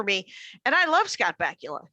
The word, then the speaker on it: Bakula: And I love Scott Bakula. His name rhymes with Butt Cracula.